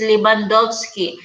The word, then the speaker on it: Lewandowski: surname quite wrong it's w is pronounced as v as like victory so it's lebandovsky because my friend like